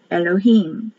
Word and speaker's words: Elohim: h i y m elohim i is pronounced like an e elohim genesis 2 7 and